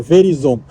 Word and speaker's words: Verizon: é Verizon, a Tob e e acho que pronuncia Verizon. Tá, vamos independente. É Verizon.